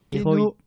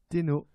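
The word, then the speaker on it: 天皇: Comment se prononce empereur? Enfin, comment ça se dit en japonais? Tenno. Oh là, attendez, là, il y a eu deux réponses à la fois. Toi, t'as dit? Tenno.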